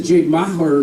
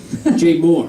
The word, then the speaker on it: Maher: but I just did the Jade Mahler podcast is that how you say it my heart Jay Moore that's it and uh it's Bill Maher and uh anyway so